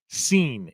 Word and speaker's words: Cine: and yes it's pronounced scene it's spelled c i NE but it's pronounced scene I know that people